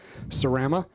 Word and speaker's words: Sarama: But yeah, Sarama.